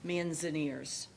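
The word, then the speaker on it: Manzanares: And it's pronounced again manzaners.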